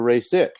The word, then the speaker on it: Rasic: I'm sorry, is it Rasic or Rasic? It's Rasic, but I guess that's difficult to pronounce.